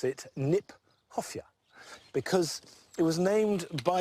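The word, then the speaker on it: Kniphofia: to say in fact it's mispronounced we should pronounce it nip hofia because it was named by Johan Hieronymus nip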